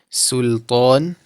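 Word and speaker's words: سلطان: Now we must be very careful not to put the back of the tongue up during the pronunciation of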